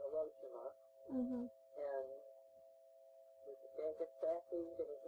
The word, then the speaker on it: Hiroshima: We called it Hiroshima in those days. Now they pronounce it Hiroshima.